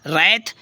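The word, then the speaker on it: wrath: भी English word में यदि डब्लू के तुरंत बाद आर आए तो डब्लू साइलेंट हो जाता है इसको आप जानते हैं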